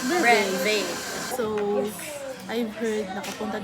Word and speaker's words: Breve: We are here at, I don't know if how you pronounce it. Yes. This one. Verva? Ay, may ano sa taas, so it's Breve.